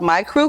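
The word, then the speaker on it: Mikru: Yeah, so my new endeavor is my fashion line called My Crew Clothing. It's spelled M-I-K-R-U.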